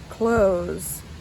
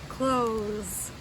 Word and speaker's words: clothes: here everything counts as close c-l-o-t-h-e-s close so if you notice there there's a th in that word but we don't pronounce it like we usually do it's tricky it's just